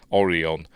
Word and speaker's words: Orion: and even Captain Kirk William Shatner said it pronounced it like that oron not Orion and don't know why